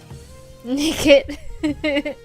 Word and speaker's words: Nickit: Nickit. I'm shaking my head right now. It sounds like the word naked.